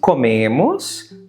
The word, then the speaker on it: comem: Nós comemos. Once again, we have e, nós comemos. E vocês comem. Quite simple, right? Notice that coming, em, is pronounced like em, a nasal sound.